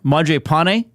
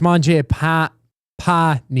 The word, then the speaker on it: Mangiapane: How have I been saying the name of the new player? M Pane. That's incorrect. M Panei. Yeah, it's ma pani. Well, you don't. Yeah, you're over pronouncing it now, right? Ma pani. M. I think I've been saying pane, which is technically in based on the NHL pronunciation guide.